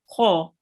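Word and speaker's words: خ: So when there is a thick letter, we have to pronounce it with the mouth rounded a bit. Kho.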